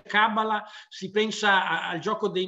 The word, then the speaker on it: cabala: specifico si chiama cabala da pronunciare proprio così con l'accento sulla finale perché si dice kamala si pensa al gioco